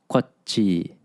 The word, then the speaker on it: Kwatchii: And the point here is that there's kind of a break in the middle of the word. There's almost a pause. Kwatchii, Kwatchii sabira, Kwatchii sabitan.